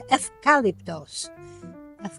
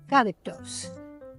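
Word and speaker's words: ευκάλυπτος: In Greece, the U is pronounced an F, so it's eucalyptos. Eucalyptos.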